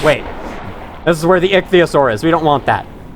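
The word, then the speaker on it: Ichthyosaur: took me a while to find the correct pronunciation of it but it's iosaur they swim at you and will attack you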